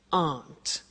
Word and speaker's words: aren't: they aren't cheap so the difficulty here is the pronunciation of are not which is aunt okay art good so